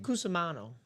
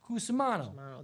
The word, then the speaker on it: Cusimano: How do you say that? Just so I don't butcher his name. Cusimano. Cusimano. There was Cusimano.